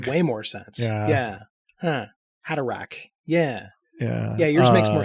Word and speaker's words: Haderach: I have always had that CH as a hard sound. That makes way more sense. Yeah. Huh. Haderach.